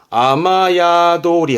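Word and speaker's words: 雨宿り: 야도르 거기에 머무르는 건데 그럼 앞에다가 비 붙여 볼까 그러면 이제 발음은 아메가 아니라 아마로 가요 아마야도리 합니다 아마야도리 스 끼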